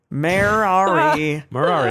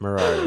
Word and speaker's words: Merari: Merari, like a Ferrari, but Merari. But Merari. I liked Emily's version that it's like Mary, but with several syllables.